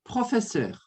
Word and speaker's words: professeur: Professeur. Professeur. Você vai pronunciar dessa forma. Professeur. Esse ser, Bia, você vai colocar um leve biquinho. Então, vai ficar assim, ó.